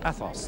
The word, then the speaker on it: Athos: in the three musketeers playing the role of Athos that is the correct pronunciation isn't good I used to change it